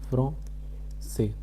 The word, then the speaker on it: français: Second one is français. How do we say? fron say. In English fron say.